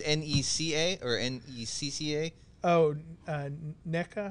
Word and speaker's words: NECA: that's behind you and i don't want to butcher the name of this toy company it's n-e-c-a or n-e-c-c-a oh uh neca yep i don't